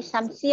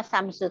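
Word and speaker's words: شَمْسُ: Tadi samsi apa samsu tadi bacanya? Samsu. Ay, alhamdulillah. Tadi takutnya kedengarannya samsi ya.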